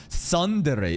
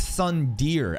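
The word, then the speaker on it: tsundere: girls in anime tropes the suere no no no sorry you're supposed to pronounce it's Sun Deere actually he wants to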